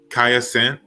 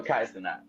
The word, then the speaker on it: Kai Cenat: Kaya Sent. What did I say his name right? Kasent. Oh, Kai Cenat.